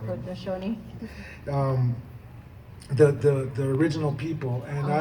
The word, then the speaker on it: Haudenosaunee: Haudenosaunee.